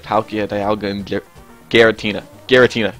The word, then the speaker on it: Giratina: Giratina. Not Giratina. Giratina.